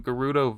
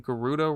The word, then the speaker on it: Gerudo: where I realized that I had been pronouncing Gerudo wrong. I've always said Gerudo, but one of these voice actors said Gerudo.